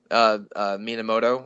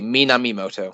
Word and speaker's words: Minamimoto: of the second week, Minamoto or something. I might be getting his name wrong. I'm looking at a list now. Okay, Minamimoto. So I assume that we get all the names wrong. I just forgot a syllable the first time.